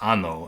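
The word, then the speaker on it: año: This is pronounced ano and with well an o is pronounced ano and means like anus.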